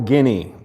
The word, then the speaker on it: Guinea: He uh wanted to go, and we helped him go, by the way, to Equatorial Guinea. That's really the way you pronounce it, like guinea pig.